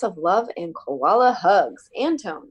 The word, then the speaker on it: Antoine: Antone. I think that's how you say it. That's a pretty picture. Anton? Anton. Anton, A-N-T-O-I-N-E. Oh, Antoine.